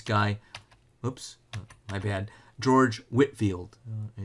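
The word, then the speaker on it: Whitefield: whoops I've had George Whitfield it's actually pronounced Whitfield you know doesn't look like it Edwards is I think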